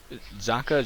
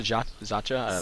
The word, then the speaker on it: Zacha: who was the uh zaka zacha not sure how to pronounce his name that's pronounced zaka from the from the Czech Republic um guy about